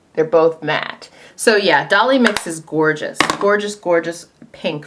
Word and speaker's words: Dolly Mix: One of my favorites, bright, beautiful for spring, is Dolly Mix. I always say Dolly Maker or something like that. Every time I do a video and I mention this blush, I say it wrong.